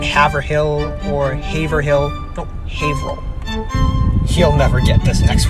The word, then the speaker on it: Haverhill: bit deceiving it's not haverhill or haverhill no haverhill he'll never get this next one and finally